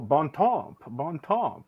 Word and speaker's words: bon temps: see a bon and then I see temps, bon temps. It's a good time. Now, can you pronounce how I was supposed to say it? Bon temps. Oh, bon temps.